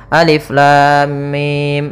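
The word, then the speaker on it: الم: panjang en harakat saja maka cara yang benar membacanya adalah seperti ini Alif Lam Mim panjangkan dulu lamnya kita ulang kembali Alif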